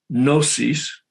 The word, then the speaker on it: gnosis: they come from greek gnosis the g is silent g-n-o-s-i-s in greek that's knowledge